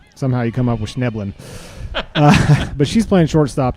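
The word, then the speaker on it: Schnoeblen: It's pronounced Schneblin. Oh, really? Schneblin.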